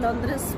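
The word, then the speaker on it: Londres: लंदन को ये लोग लॉन्ड्रेस प्रोनाउंस करते हैं।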